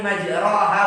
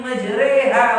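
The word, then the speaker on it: مجراها: Bismillahi majreha wa mursaha. Kenapa majreha? Tulisannya majroha. Loh, majreha karena adalah bacaan imalah ya. Bacaan imalah. Bacaan imalah itu merubah kata-kata fathah menjadi majroha menjadi majreha.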